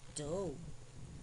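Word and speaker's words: dough: eight now let's review these words with silent gh knight n i g h t night do d o u g h slay s l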